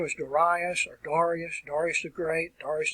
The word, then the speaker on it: Darius: was a Persian king, and his name was Darius, or Darius the Great, Darius the First, or Darius if you want to pronounce it that way.